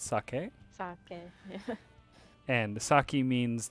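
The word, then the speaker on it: 酒: a little bit careful when you say saki and you mean the drink that's actually pronounced sake and saki means like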